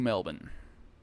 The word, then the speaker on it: Melbourne: my flight to Sydney and it's connecting through Melbourne I got to say it like that right